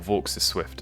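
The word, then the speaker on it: Vaux's Swift: of looking at that V Swift as well or V is Swift as I keep being told it's pronounced um and that could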